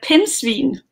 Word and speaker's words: pindsvin: So this is a pindsvin. Pindsvin. Yes. Okay, because I have seen as well that you've got a t-shirt that says Dr. Pindsvin because you're Dr.